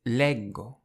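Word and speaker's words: leggo: I read is Lego. So even though the two G's in the verb leger are pronounced J leg leger, when you have a G followed by an O, it's a hard G.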